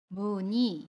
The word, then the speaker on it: 무늬: 이어 쓰기 문의는 어때요 자음 미움과 움 의 가 만났어요 그래서 뭐니 라고 발음 해요 의를 2 로 발음합니다 무늬 그러면 회의에 의미 어떻게